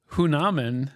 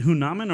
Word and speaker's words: Hanuman: Is it Hunaman or is it Hanuman? Han. You decide. It's spelled Hanuman. I think that's how they pronounced it.